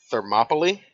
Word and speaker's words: Thermopylae: It is a fictional retelling of the Battle of Thermopylae, I believe is the correct way to say it. Yeah, that's the correct pronunciation.